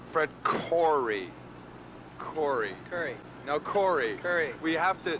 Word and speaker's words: Coury: And to my extreme right is Coury. Coury, pronouncing the as ugh.